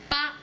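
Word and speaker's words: 八: El 8 se pronuncia pa en chino, que suena como fa, que es otro carácter, que significa prosperidad.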